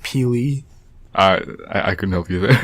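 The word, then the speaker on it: P'Li: Her name was, and I don't know how to pronounce this, her name was Pili. It's P''Li. It's like Pili.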